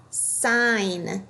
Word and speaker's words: sign: Sign. This word ends with a GN. We just hear the N sound.